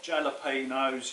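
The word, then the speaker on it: jalapeño: and also we've got jalapenos yes i know you're meant to pronounce it jalapeno but i'll come from essex and it starts with a j so there we go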